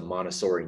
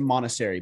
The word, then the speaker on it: Montessori: A lot of people use the Montessori name and don't necessarily. I even said it wrong. I said Montessori, but it's Montessori.